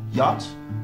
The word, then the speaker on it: yacht: Attention aux exceptions, par exemple, le A se prononcera A dans yacht, ou encore O dans wrath, et A se prononcera E dans Thames, any, ou encore many.